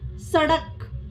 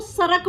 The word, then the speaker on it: सड़क: इनके उच्चारण में र शामिल होता है, जैसे सड़क, लड़ना, बूढ़ा। ठीक है। आपने देखा होगा, जो कुछ जो लोग होते हैं वो सड़क को सरक बोलते हैं, लड़ना को लरना। तो अड़े और रे मतलब सेम ही साउंड हो जाती है। सड़क, लड़ना, बूढ़ा, इनका उच्चारण अलग होता है।